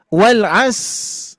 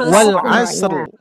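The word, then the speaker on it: وَالْعَصْرِ: Wal as yang dibuang apa tuh? Huruf rnya harusnya kan wal asr. Ah, itu termasuk kesalahan jali juga sama ya.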